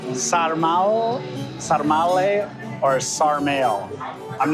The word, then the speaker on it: sarmale: Oh, sarmal. Sarmal? Sarmale or sarmale? I'm not sure how to pronounce it. I've only ever... Sarmal? Thank you, thank you. Sarmale? Sarmale.